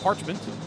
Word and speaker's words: Parchment: LD says Sarah's name is pronounced Parchment. Wasn't sure.